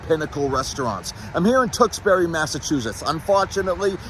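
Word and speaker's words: Tewksbury: tuxbury Massachusetts unfortunately it's another town that is spelled incorrectly people that started naming these places were cocked out of their minds supposed to be Tuk t o o k s b u r y I'm vetoing this is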